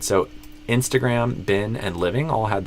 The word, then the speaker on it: Instagram: And that's where it should be an I sound, but you did E. So like I would say Instagram, but you did Instagram.